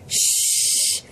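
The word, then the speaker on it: ш: four hm W no this is sh like you know when you're trying to tell someone to be quiet you go sh so s h that's how it's pronounced sh this one is pretty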